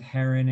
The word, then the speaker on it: heron: a same thing with heron and hiro we had that you would say well that's an r control vowel but actually heron has a short e sounds look kind of tricky